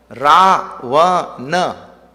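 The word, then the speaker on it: Ravana: In that Treta Yuga, now the evil force is Ravan. Ra-va-na. 3 syllables.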